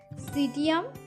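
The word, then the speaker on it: Psidium: सीडियम गुआज़ावा। Okay, P silent रहेगी, PSI और DIUM।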